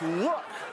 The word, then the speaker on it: lewk: By the way, that's look, but it's spelled l e w k.